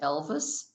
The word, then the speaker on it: LVIS: Rockford Public Library belongs to a consortium spelled LVIS, pronounced Elvis, stands for Libraries Very Interested in Sharing.